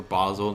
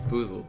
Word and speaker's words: Boozled: have we have bean boozled or Basel however you want to pronounce it it's boozled yeah I don't know who